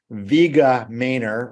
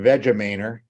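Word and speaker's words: VegaMainer: It is, you can pronounce it either way. Vega Mainer or Vega Mainer. V-E-G-A-M-A-I-N-E-R.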